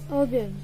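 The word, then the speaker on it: 오븐: Now I'll teach you how to pronounce it in Korean, and we say it as obeun, obeun, O-B-E-U-N, obeun, obeun, obeun, obeun, oven.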